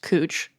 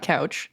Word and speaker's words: Couch: here to find out it's pronounced cooch not couch for those of you who are just finding out welcome but I do have a little bit of a backstory for why it's cooch not couch according to